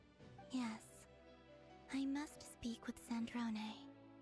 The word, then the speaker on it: Sandrone: I must speak with Sandrone. Sandrone?